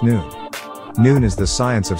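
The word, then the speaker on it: Noone: Nun was already mentioned in these writings, and for the benefit of the listening audience and reading public again, Nun is definitely spelled N-O-O-N-E and pronounced Nun.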